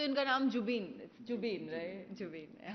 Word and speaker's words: जुबिन: Well, I एम a huge जुबीन फैन। एक तो इनका नाम जुबीन, जुबीन, राइट, जुबीन।